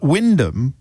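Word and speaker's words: Wymondham: Windham is one of those curious English towns that's spelled entirely differently from how it is pronounced. It's it's spelled Y Mondam, but Windham is a is a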